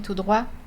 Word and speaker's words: tout droit: donc on se rappelle il y a une différence de prononciation en tourner à droite on prononce le T droite et continuer tout droit donc continu tout droit pas de T tourner à droite